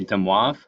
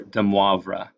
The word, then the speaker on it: de Moivre: For pronouncing this theorem, you could either say de Moivre or de Moivre.